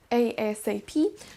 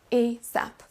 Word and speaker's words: ASAP: Eh bien sachez qu'il est possible de le prononcer de deux façons, soit lettre par lettre, ASAP, soit comme un mot en deux parties, ASAP.